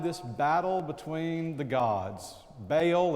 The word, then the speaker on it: Baal: In Elijah, you find this battle between the gods, Baal, as we call him in the South, Baal, as Vivian correctly pronounces it when we sing, Baal and Jehovah, Baal and the God of Israel.